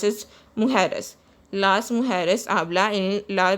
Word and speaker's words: mujeres: J is pronounced as hota in Spanish. It is pronounced as mujeres.